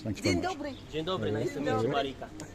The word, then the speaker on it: Dzień dobry: I should say, how do you say it? Dislin Dobra. Dzień dobry. Dzień dobry.